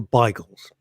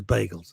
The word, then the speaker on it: bagel: ago in stanford hill they were biggles they were always biggers the american pronunciation was bagels now bigels has gone out the way and they're just called bagels not that you can